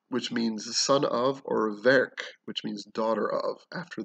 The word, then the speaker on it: Verch: All right, and Verc means daughter of, which is spelled V-E-R-C-H, hard C-H, not Verch, so Verc.